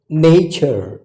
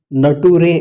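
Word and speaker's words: nature: ವಿಚಿತ್ರ ಇದೆ ಚರ್ ಚರ್ ನೇಚರ್ ನೇಚರ್ ಅಕ್ಷರಗಳ ಉಚ್ಚಾರಣೆಯಂತೆ ಹೋಗಿದ್ದಿದ್ರೆ ಇದು ನಟುರೆ ಆಗ್ತಾ ಇತ್ತು ನಟುರೆ ಫ್ಯೂಚರ್ ಫ್ಯೂಚರ್ ಕಲ್ಚರ್ ಕಲ್ಚರ್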